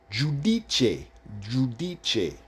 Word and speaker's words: Giudice: So the G-I-U, Jew, the U is pronounced the U. The U is pronounced U in Italian, U. So when you see the U, it's pronounced U. So when you put the words together, G-I-U, it would be Jew. D-I-D. C-E, che. So when you put it together, Giudice.